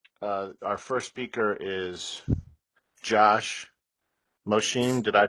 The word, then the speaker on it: Mosheim: So in this main session, our first speaker is Josh Mosheim. Did I pronounce that right? Mosheim. Mosheim.